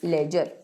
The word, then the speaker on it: ledger: लेजर तो heading डालो लेजर time waste नहीं करेंगे सीधा चैप्टर नंबर नाइन स्टार्ट करेंगे लिखो चैप्टर नंबर नान चैप्टर नंबर नाइन जिसका नाम है लेजर डी साइलेंट होता है इसको बोलते हैं लेजर लेजर लेजर लेजर लेजर